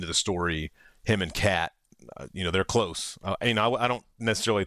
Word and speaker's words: Kat: He bonds with a girl named Kate. Actually, it's Kat. It's spelled Kate, but it's Kat.